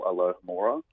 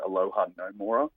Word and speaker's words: Alohomora: And we've also got a bit of a running thing at the moment where no one can pronounce the spell Alohomora. Everyone says Aloha no Mora, and it really ticks him off.